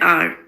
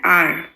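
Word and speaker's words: hour: elephant, an umbrella, an R. Here h is silent. Vowels a, e, i, o, u, but article uses uh uses depends on sound, not on letters. For example, an R, an honest, a university, a European.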